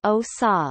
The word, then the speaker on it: Odisha: odessa Odia Orissa pronounced OSA listen formerly known as Orissa is one of